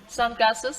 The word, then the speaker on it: sunglasses: ใช่ไหมพี่ต๋าต้องได้ดิ Sunglasses. Glass. Sunglasses. Sunglasses. Careful. Careful. Where is this dress? sunglasses Oh no, it's a compound noun. Stress on the first element.